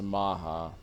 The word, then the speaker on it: Matcha: It's spelled matcha, but it's pronounced maha.